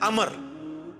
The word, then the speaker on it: Amr: बहुत था अच्छा लेकिन वो लफ्ज गलत है लफ्ज़ उम्र तो कोई लफ्ज़ नहीं है लफ्ज़ है अमर लिखा होता है उम्र लेकिन उसका मतलब वो जो है वो साइलेंट होता है और वो का मतलब यह है की आपने इसे पेश की बजाय उम्र की विजय पढ़ना है अमर तो हज़रत अल्लाह इसका